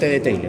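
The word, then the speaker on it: Theile: Se llama el seno transverso o seno de teile teile se escribe así. T H E L E. Ahí está. Seno T de taile, ¿no? Terso, Tile, más fácil.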